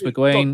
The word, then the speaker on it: McGuane: Is that how you pronounce it? Yeah. Marcus McGuane.